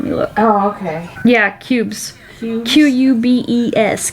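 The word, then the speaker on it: Qubes: Yeah, cubes. Cubes? Q-U-B-E-S. Cubes. Rhymes with pubes.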